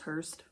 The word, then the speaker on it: Hearst: are covering Patty Hearst I believe it's just pronounced Hearst like the vehicle for the dead people I don't think they